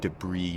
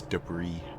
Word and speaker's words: debris: It's pronounced debris just so you know. It's like it's like the cheese. It's debris.